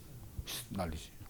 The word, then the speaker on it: knowledge: 영어의 지식이 뭡니까 영어로? knowledge. 할 때 그거 봐요. knowledge. 요소 나온 말. 이제 묵음이 돼가지고 난리 된 거지.